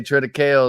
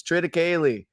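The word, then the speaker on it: triticale: right no no fine the farmer gets on me when I say TR kale the first two years and said Austin it's TR kayy and I take the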